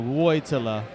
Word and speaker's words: Wojtyla: It's pronounced Joytilla, but the first letter is a W. Woytilla. So Woytilla.